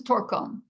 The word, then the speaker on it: Torkom: Torkom is Torkom. Torkom. then the last name, how how does it pronounce?